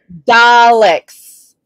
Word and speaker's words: Daleks: yeah yeah yeah yeah okay daleks that's how you pronounce it dumb dumb i'm not